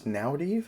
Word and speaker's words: Naurdiev: Ismail Naurdiev, I believe it was Naurdiev is how they pronounced it, beat Bruno Silva by unanimous decision.